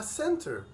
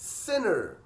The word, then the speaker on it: center: كمان عندي الكلمة دي، والكلمة دي لو انت نطقتها هتنطقها center، center زي السنتر اللي بتاخد فيه الكورس كده، لكن هما بقى بينطقوهاش كده، هما بينطقوها sinner، sinner، sinner. هما برضو بدلوا التي اللي في النص بحرف ان تاني.